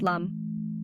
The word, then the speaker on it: LAM: chakras one root chakra chant lamb pronounced Lum this Mantra grounds you